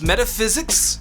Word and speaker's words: metaphysics: It's metaphysics. Phys is the stressed syllable.